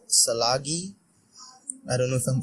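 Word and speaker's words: Tsalagi: I agree, and I think I know the post you're talking about, and it's pronounced Chalagi, which basically means Cherokee.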